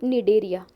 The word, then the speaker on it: Cnidaria: Another name for these Coelenterata is Cnidaria. Okay, C is silent here. Okay, we call it Cnidaria.